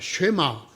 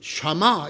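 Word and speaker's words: שמע: 첫 글자를 따온 것입니다 아 쉐마 또는 샤마 이렇게 어 발음할 수 있는 글자 인데요 이것은 듣다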